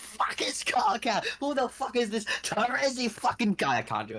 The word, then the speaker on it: Terezi: Yeah, no, it's Terezi Pyro. That's how I've always said it.